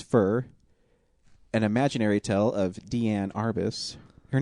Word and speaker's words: Diane: Um, the first one I watched was Fur, an imaginary tale of Deianne Arbus. Her name is spelled Diane, but it's pronounced Deianne.